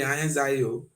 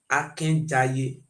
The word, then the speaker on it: Akenjaye: They don't be Ahenjai. They say na Akenjaye.